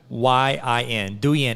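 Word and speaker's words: Douyin: it's still call and i'm going to pronounce this wrong and i apologize d-o-u-y-i-n do yan it's still called that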